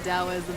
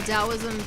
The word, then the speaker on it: Taoism: Well, Taoism focuses mainly sort of like on going. It has a T. It's peaceful. How's It's that- pronounced like a D.